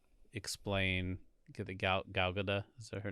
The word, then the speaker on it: Gal Gadot: Get the Gal Gadot, is that her name? Gal Gadot. Gal Gadot. Gal Gadot, actually. Gal Gadot. Yeah, people pronounce it that way.